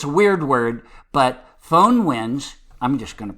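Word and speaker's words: Föhn: it's fun you know it has to be said like you've got a german or a french accent or something so um it's like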